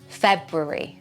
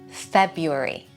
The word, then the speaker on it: February: Let's start with the most difficult way and many British people pronounce it this way with two Rs. February February February February February February February. Sometimes, however, you will hear it pronounced without that first R. February.